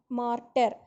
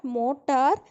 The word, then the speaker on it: mortar: Next is lime mortar. மார்ட்டர்னு நிறைய கேள்விப்படுவீங்க. நீ மார்ட்டர் அப்படின்னா இட்ஸ் நாட் மோட்டார், it is pronounced as mortar, mortar.